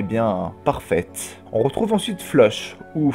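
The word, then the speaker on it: Floch: On retrouve ensuite Flush, ou Flock. Enfin, à ce qui paraît, ça se prononce Flock, mais je suis désolé, j'ai tellement l'habitude de le prononcer Flush que je vais continuer de l'appeler Flush.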